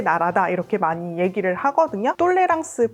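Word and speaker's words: tolérance: 이렇게 많이 얘기를 하거든요 똘레랑스 불어로 어떻게 발음을 하냐면 똘레랑스 아고 하는데 무슨 말이냐면 관용이라는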